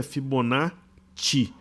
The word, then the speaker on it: Fibonacci: Fibonacci não é com 2 Es, então não é Fibonacci. É Fibonacci ou Fibonacci, ok? Mas a pronúncia correta é Fibonacci. Se fosse com 2 E, seria Fibonacci, como Arezzo ou pizza, ok?